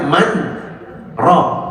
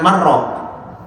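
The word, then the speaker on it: مَنْ رَاقٍ: Makanya harus dibacanya man ro jangan marr kalau diidgamkan nun ketemu ro kan idgam ya Bu. apa bila gun nun sukun ketemu ro man jadi mar kalau mar bukan orang menyembuhkan wakila dan dikatakan man orang rokin siapa yang bisa menyembuhkan penyakit mati tidak ada kalau mar artinya kuah sayur makanya harus diap saktah berhenti sejenak man r bacanya begitu enggak ada yang bisa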